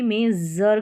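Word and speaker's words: measure: इसको जर करके प्रोनाउंस करेंगे। जर। तो यहां पर सभी स्पेलिंग्स में एस यू आर ई है और सभी में जर करके प्रोनाउंस किया है। जैसे देखिए मेजर फिर है प्लेजर।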